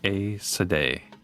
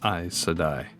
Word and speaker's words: Aes Sedai: In my most anticipated shows in 2025 video, I mispronounced the Sorcerer's Order as Aes Sedai, whereas the correct pronunciation is Aes Sedai.